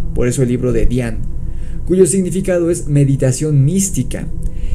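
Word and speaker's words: Dzyan: eso el libro de Dhyan, cuyo significado es meditación mística. Y es que la pronunciación Dhyan, escrito D-Z-Y-A-N, de la palabra es particular de la lengua tibetana o mongola.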